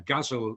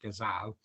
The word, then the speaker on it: ghazal: It's the same as a ghazal, as we pronounce it in Bradford, although I hear elsewhere it's pronounced ghazal.